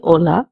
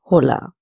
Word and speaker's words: hola: The first word begins with an h. It is silent in the Spanish language so we say hola instead of hola.